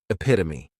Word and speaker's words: epitome: Next is epitome, and this noun has 4 syllables, and the stress is on that second syllable, epitome.